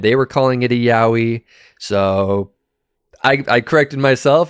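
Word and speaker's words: Yowie: me and correct the way that I was pronouncing the name I was calling it yoi when I actually should have been calling it yahi at least at least I hope that's what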